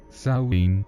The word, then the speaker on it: Samhain: mundo ni al otro samaín pronunciado sauin es la palabra del